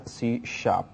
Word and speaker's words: C#: is given by Microsoft written as C but pronounced as CSH and it also says C is an objectoriented